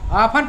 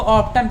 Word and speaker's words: often: कई लोग इसको ऑफ्टन पढ़ देते हैं, ऑफ्टन मीन्स अक्सर, लेकिन ये टी साइलेंट हो जाता है, ठीक है, टी का उच्चारण नहीं पढ़ते, ऑफन पढ़ते हैं इसको, OFTEN, ऑफन, ऑफन मीन्स अक्सर।